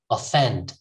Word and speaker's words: offend: see the difference next offend uh offend not all offend offend all right offend next purpose